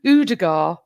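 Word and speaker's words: Ødegaard: Udegaard. You don't say the D at the end.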